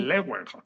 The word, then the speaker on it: Leeuwenhoek: Pero, y aquí tenemos que mencionar al padre del microscopio, Leeuwenhoek, así lo pronuncian Sí, los holandeses, sí, Leeuwenhoek.